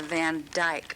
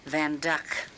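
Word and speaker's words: Van Dyck: the van duck people will say it's a van djk but it's pronounced van duck and let me see if I can get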